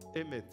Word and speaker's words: Emet: Dites avec moi, Emet. Emet, c'est le mot vérité. C'est traduit en français par vérité. Emet, en hébreu, s'écrit avec 3 lettres.